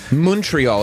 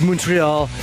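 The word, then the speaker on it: Montréal: Montreal is how it's pronounced. Yes, Montreal.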